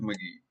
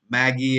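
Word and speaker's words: Magi: Okay, so we'll start first with the journey of Maggie. It's the word is Maggie, and Maggie is the plural of Magus. Can anyone tell me what is Maggi or Magus? It's not your Maggie as in Maggie instant noodles.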